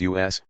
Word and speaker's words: US: The most influential organization in the Black Congress in late 1967 and early 1968 was Ron Karenga's U.S., pronounced us, as in not them.